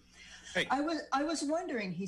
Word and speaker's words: HAI: HAI is spelled, pronounced HAI. Hey.